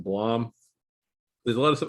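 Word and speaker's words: Blame!: And also, if you probably haven't read the manga, it's looks like Blame, but it's pronounced Blom.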